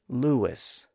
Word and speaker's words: Louis: In the middle of that name, the oo sound is immediately followed by the I sound, vowel next to vowel. And in that context, we often pronounce that name with a slight W sound in between.